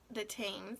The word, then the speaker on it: Thames: London was London bridge the bridge crossed the Thames detains that's how they say it river at different times